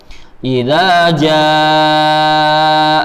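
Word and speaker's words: إذا جاء: Di sini contohnya idza jaa. Kita bacanya 5 coba ya, karena ini mat wajib mutasil. Idza jaa 5 harokat. Idza jaa nasrullah. Kalau kita antum baca cuma 2, idza jaa khoto, salah. Tapi bacalah dengan 5 harokat.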